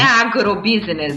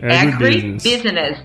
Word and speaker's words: agribusiness: Legal, e outra coisa, o agronegócio em inglês, o correto é falar agribusiness. Não é agrobusiness, é agribusiness.